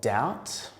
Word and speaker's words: doubt: And we've got words with a silent B. So they're words that things like bomb, or doubt, or debt, and lamb.